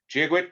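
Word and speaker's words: Dia duit: Giagwit, she says, phonetically, G-a-gwitch, translated from Irish Gaelic, God be with you.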